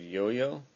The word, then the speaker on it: IOIO: connected to an Android yo-yo it's an IO iio but pronounced yo-yo for some reason it is connected via